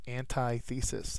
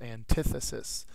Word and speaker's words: antithesis: and the synonym is Alay next word is antithesis it is not pronounced antithesis it's antithesis so I chose the two masks that they